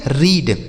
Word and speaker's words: read: तो इसे हम पढ़ेंगे रीड। क्या पढ़ा जाएगा मेरे भाई? रीड।